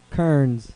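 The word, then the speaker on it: Kerens: s what's your guess remember it's never gonna be what it looks like kearns kearns he says and that is correct all right next one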